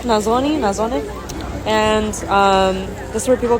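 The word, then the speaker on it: nasone: They just got rid of a stage today, and as you can see here, this is a Nazzone, I think that's how it's pronounced, Nazzone.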